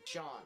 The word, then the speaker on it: Sean: Basically pronounced S-H-A-W-N. It's that same pronunciation. Sean.